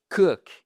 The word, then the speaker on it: cook: Tired to cook. Et pas to cook. C'est un ou court. Ceci est une flèche.